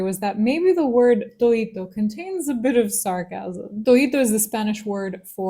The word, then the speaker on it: toito: Toito is the Spanish word for todo, meaning everything, but in the diminutive form with Andalusian pronunciation, which is very typical in flamenco, where you drop the D.